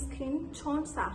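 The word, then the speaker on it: SKIN1004: However, Korean people don't call it "Skin 1004," nor do they call it "Centella." How do they pronounce or call it? They call it "Skin Cheon-sa." (Skin Cheon-sa) The key point I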